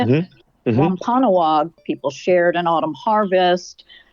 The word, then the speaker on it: Wampanoag: Wampanoag people shared an autumn harvest.